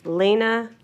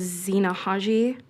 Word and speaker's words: Zena: Lena please state your name for the record. And for the record it is Zena Hello honorary board of trustees.